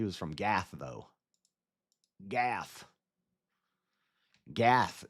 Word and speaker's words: Gath: Gath is how you say lore class is live.